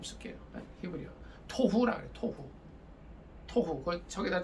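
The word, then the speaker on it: תֹהוּ: 토후. 저기다 좀 써놓으세요. 토후. 요 히브리어 원 글자는 좀 몰라도 돼요.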